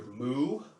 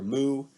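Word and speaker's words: μ: for this letter so it's either the cow or the kitten whichever you prefer okay so back to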